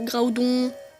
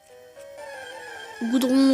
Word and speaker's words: Groudon: Voilà, dites-moi comment vous prononcez, moi je dis Groudon, mais moi je sais qu'il y en a qui disent Groudon, Graudon, Goudron aussi, lol.